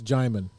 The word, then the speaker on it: Jaimin: It's Jaimin. Jaimin, forgive me. I always mispronounce it. He always corrects everybody. He's like, it's like Simon, but Jai.